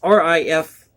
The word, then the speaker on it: Rifreddo: I believe that's pronounced Rifredo. It's Rifreddo. So were our American troops who raised the Confederate battle flag alongside the U.S.